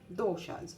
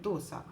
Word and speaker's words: dosa: goes with the doshas in malayalam it is called dosa in the north indians call it dosa so sometimes i pronounce it as dosa but being a malloo normally i tend to say dosha so i've made the